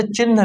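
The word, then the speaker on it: चिह्न: इसको कैसे पढ़ेंगे, इसमें आधा हा है और हा पहले है और ना बाद में, उसको पढ़ेंगे चिन्ह, इसको पढ़ेंगे चिन्ह, मतलब हा पहले बोलेंगे और ना बाद में बोलेंगे। तो चिन्ह, सही जो उच्चारण होता है वो चिन्ह होता है, मतलब ना बाद में आना चाहिए।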